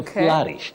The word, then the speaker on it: flourish: sound o FL FL to flourish just like nourish not flourish not flourish and